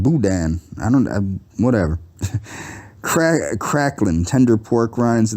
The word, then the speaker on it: boudin: It's pronounced boudin.